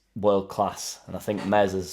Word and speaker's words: Meslier: don't want to lose Mez silent s although my silent ass